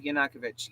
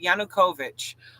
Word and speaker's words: Yanukovych: that that's uh Yanukovych I guess I was pronouncing that wrong of yanakovich Yanukovych um that's the guy